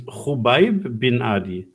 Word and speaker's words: Khubayb bin Adi: Kubib bin al-Didi. The KH is a Kh, so it's Khubayb bin Adi.